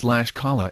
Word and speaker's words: Tlaxcala: But some quick corrections. It is Oaxaca and it has 2.7%, not 27%. And it is Tlaxcala and Guanalan. Even I, with a robotic voice, can pronounce better than that.